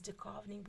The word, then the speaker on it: Duchovny: It's Duchovny with an H. The H is silent.